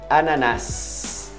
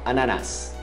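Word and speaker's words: ananas: Ananás. Pronuncia até o S final. Ananás.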